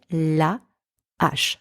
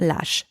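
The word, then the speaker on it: la hache: So I say la ash, not lash. la ash.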